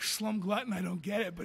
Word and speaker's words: Slum Glutton: Some people always call it Slum Glutton. They can't get it, but I noticed if you read it when it's spelt, you get it. If you just say it, some people like can't really get it. Slum Glutton, and I'm like Slum Glutton because it's like the two L's.